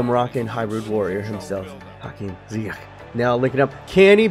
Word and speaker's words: Ziyech: Ziyech. So hopefully I'm pronouncing it 100% correct.